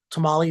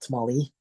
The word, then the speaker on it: tamal: a single individual one it's not actually how you say it it's a Tamal singular Tamal not tamali um Tamal is is